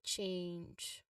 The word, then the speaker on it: change: in wood and then change has a dip thong. starts like ah and cat and moving to an i sounds and ends with a soft j sound or w sound.